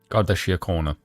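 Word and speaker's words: Garda Síochána: Drew Harris commissioner of the Garda can you pronounce this godia corner thank you wow okay um Ireland's national police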